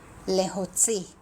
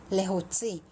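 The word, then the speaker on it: להוציא: เลโฮจิ แลโฮจิ นะ คะ ส่วน ใหญ่ พี่ จะ ไม่ ค่อย ออก เสียง ซี่ เท่า ไหร่ นะ คะ พี่ จะ ออก เสียง อ่าม ควบ ตัว จ จาน ด้วย นะ คะ ก็ คือ จะ ใกล้ เคียง กับ ภาษา พูด ของ อิสราเอล นะ คะ มาก ที่ สุด ก็ คือ เลโฮซี่ พี่ จะ ออก เสียง จอ จาน มาก กว่า ซโซก นะ คะ เลโฮ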